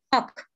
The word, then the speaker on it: talk: otra consonante a continuación, la L nos vuelve mudita, ya no la pronunciamos. Sucede también con el verbo talk, ¿cierto?